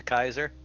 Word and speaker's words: Caesar: That is actually perfectly true because everyone still insists on calling him Julius Caesar. As opposed to Kaiser.